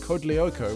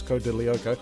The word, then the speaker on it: Code Lyoko: went on to co-create code lyoko which i always mispronounced as code de lyoko and ran an insanely